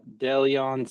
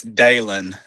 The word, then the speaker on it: Dalen: Uh, no, it's Dalen. It's just spelled stupid.